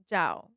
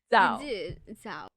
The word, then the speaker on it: Zhao: and today we're reviewing Hamnet directed by Chloe Jiao. No, Jao. You said Jiao. Oh my gosh, I literally Googled how to say her name because I want to pronounce it correctly, but it's Zo.